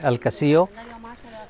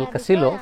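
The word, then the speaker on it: El Castillo: আর এটাই হলো main ক্যাসল, যেটাকে এই ভাষায় বলা হয় আল কাসিও, বানান করে আল কাসিলো কিন্তু উচ্চারণ হবে আল কাসিও।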